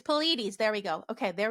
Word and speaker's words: Pleiades: It's Pleiades.